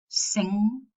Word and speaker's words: sing: So we only pronounce the velar nasal.